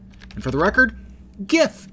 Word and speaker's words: GIF: And for the record, GIF has a hard G too. It's graphics interchange format. Hard G. If it was a soft G, it would be giraffics interchange format, which would be fine if it was limited to pictures of giraffes.